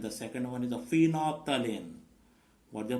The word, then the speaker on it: phenolphthalein: The two synthetic indicators are, first one is a methyl orange indicator, and the second one is a phenolphthalein. What the pronunciation? Phenolphthalein.